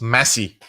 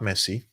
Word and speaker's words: Massie: Thomas Massie, not Messi.